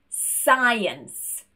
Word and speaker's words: science: Moving on to the letter C, and this is silent when it's next to an S. For example, muscle, scissors, science. We don't want to hear that k sound, we only want that s instead. I also want to point